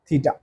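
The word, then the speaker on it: theta: मतलब ये एंगल बोलते हैं थीटा, ये इसको बोलते हैं थीटा, this is हाउ इट is pronounced, थीटा।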